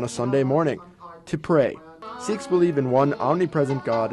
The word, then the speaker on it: Sikh: said who are The Sheiks who are the Shreks oh wait wait we pronouncing it wrong it's the siks and who are they